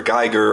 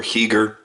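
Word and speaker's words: Giger: I've heard it pronounced two ways by people sitting in front of him doing live interviews, and he hasn't corrected them. So you may want to call him H.R. Geiger or H.R. Heger, whichever you prefer.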